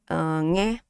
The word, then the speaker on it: nghe: This is nghe, right? Relaxed pronunciation. Yeah, that's right. Nghe, right? Ng and a. So nghe, one sound.